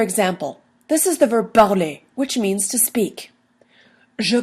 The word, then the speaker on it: parle: Je parle, tu parles, il parle, elle parle, on parle, nous parlons, vous parlez, il parle, elle parle. Again, everything in the brown sounds the same. Parle, parle, parle. They're all the same.